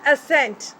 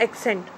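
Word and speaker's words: assent: के it will be pronounce असेंट. This is नॉट एक्सेंट.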